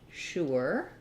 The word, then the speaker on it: sure: I usually pronounce it as sure like the beginning of shirt.